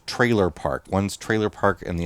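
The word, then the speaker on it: Treylor Park: yeah there are actually two of them called trailer park one's trailer park and the other one's trailer park hitch and it's spelled t-r-e-y l-o-r yes trailer park hitch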